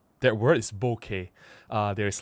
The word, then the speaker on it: bokeh: And well, technically the right right way to say that word is bokeh. Uh there's like technical papers uh to describe how do you actually pronounce the word. It's a Japanese word.